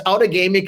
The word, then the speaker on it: Outagamie: So it's Outagamie County, and don't feel bad because if you're more than 30 miles away, you'll mispronounce it.